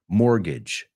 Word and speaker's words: mortgage: Pero no se pronuncia así, la T es muda. It's more, like más, more, gidge, como bridge, pero con una G. Mortgage.